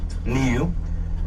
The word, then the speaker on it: niu: The Hawaiian word for coconut is niu. That's spelled n iu. Nu.